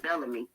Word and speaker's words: Bellamy: sp yes this is you know that comedian bill bellamy no that's not oh that's how you say my name is bellamy bill bellamy i got it now